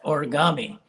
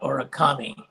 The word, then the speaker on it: origami: But in Japanese, when you put these two words together, the K turns to a G, so it's pronounced origami, not origami.